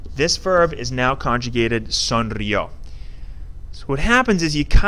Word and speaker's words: sonrió: This E is completely unnecessary. Sonreíó. We just want it to be pronounced sonrió.